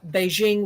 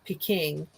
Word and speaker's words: Beijing: I was growing up Beijing was referred to as piking because that was an older way of romanizing one dialect of Chinese but Beijing reflects more closely the it's a different romanization that reflects more closely the dominant pronunciation of the dominant dialect which is Mandarin in um China so